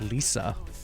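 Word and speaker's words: лиса: but again not a gamer platform oh it's pronounced Lisa Lisa means fox in Russian H see are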